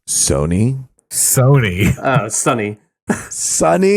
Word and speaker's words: Sony: Old Sunny picks. Hey, movie. Right. Hey, Sunny. It's pronounced. Tarzan. It's pronounced Sony.